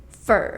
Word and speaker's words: for: The vowel usually becomes the schwa sound.